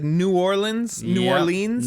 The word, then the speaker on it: New Orleans: You said New Orleans. New Yep. Orleans. Narlands.